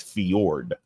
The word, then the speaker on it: fjord: you say this Jordan I know it's fjord but it's spelled f-j-o-r-d fjord all right and there's one